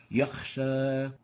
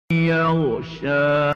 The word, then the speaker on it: يغشى: The third mistake is exchanging the ghain with the kha. Example, yakhsha. We have a ghain here, and instead of pronouncing yaghsha, we pronounce yakh, yakhsha. This is wrong. The right way of pronouncing it is يغشى yaghsha. So we shouldn't replace the ghain with a kha.